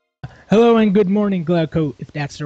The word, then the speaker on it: Glauco: myself with music hello and good morning glow Co if that's the right pronunciation yeah you got it yeah man I